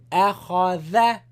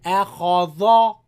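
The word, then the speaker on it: أخذ: So, akhadha, not akhadha. Dha, wrong. And don't make Kha light. Akhadha, akha. Kha is wrong.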